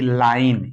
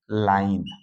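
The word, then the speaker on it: line: same उच्चारण होगा वही लेकिन लास्ट में जो ई आएगा उसका उच्चारण नहीं होगा फिर है एल आई एन ई लाइन इसको क्या पढ़ेंगे लाइन देखो ला आई का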